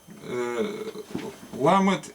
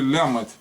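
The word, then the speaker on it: למד: То есть правильно ламет произносить, но сходят на региональном как лямет.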